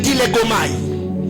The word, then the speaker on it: dilégomai: Il faut faire le dilégomai.